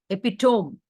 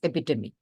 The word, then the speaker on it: epitome: Epitome, it was mentioned. It is epitome.